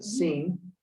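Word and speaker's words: שׂ: And over here we have this one is the seen. Okay, it's like an S.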